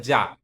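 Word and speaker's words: じゃ: জিয়া হওয়ার কথা ছিল কিন্তু জিয়া হবে না উচ্চারণটা হবে যা যা যা জু জ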